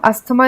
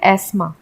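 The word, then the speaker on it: asthma: Actually में क्या होता है, इसे अस्थमा को हम अस्थमा नहीं बोलते इंग्लिश में, हम इसे बोलते हैं एस्मा। इसे हम हेयर नहीं बोलते, इसे हम बोलते हैं एयर, क्योंकि इसमें एच साइलेंट है और अस्थमा में टीएच साइलेंट है, तो ये एस्मा हो गया।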